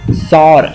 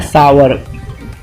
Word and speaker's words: sour: सौर या सावर, आप दो तरीके से आप इसे बिंदास बोल सकते हैं, जैसे आवर वैसे सावर बस।